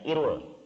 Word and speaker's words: IRUL: lembaganya namanya Hai Irul dalam bahasa Indonesia dibacanya Irul Irul singkatan dari Institute for